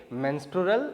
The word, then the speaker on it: menstrual: मेंस्ट्रुअल cycle, pronunciation क्या करोगे, मेंस्ट्रुअल cycle, ठीक है.